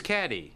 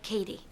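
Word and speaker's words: Cady: great her name is caddy caddy heron where are you caddy that's me it's pronounced like Katie my apologies I have a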